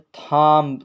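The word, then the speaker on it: thumb: के बाद यहां पर बी है तो बी साइलेंट रहेगा इसी को पढ़ा जाएगा बम बम इसी तरह आप देख सकते हैं थाम थम लिखा है तो इसको पढ़ा जाएगा थम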